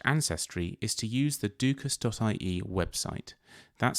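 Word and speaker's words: dúchas: about their Irish ancestry is to use the dukus.ie website that's spelled d-u-c-h-a-s dot i e this website is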